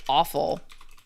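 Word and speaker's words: offal: So, this sounds like vile and this sounds like awful.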